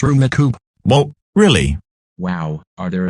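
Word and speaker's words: Rummikub: Duh, in order to do that, you have to beat me at Rummy Cube. Rummy Cube, what's that? Apparently it's a correct way to pronounce Rumikube.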